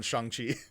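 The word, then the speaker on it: Shang-Chi: qi they've clarified a lot it's it's pretty shangchi all right i'll ask my friend tomorrow he's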